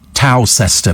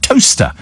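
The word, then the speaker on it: Towcester: uh called well there people who call it to sester but it's pronounced toaster says Angie yeah we did it on the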